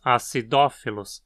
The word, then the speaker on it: acidophilus: Uma dessas espécies é Lactobacillus acidophilus, o lactobacilo que ama ácido, ou coisas azedas. Aqui a penúltima sílaba é fi, que não tem requisitos para levar acento, então dizemos acidophilus, como proparoxítona.